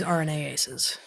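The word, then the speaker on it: RNases: messages are floating around all these rna aces right so that's how it's pronounced but yeah all these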